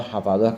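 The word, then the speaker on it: حفظة: Tambihun, satu pengingat, qauluhu hamalatun wa safaratun wa hafadatun wa katabatun bi fathi ahrufiha atsalatah. Ini bacanya hamalah, safaroh, hafadah, katabah.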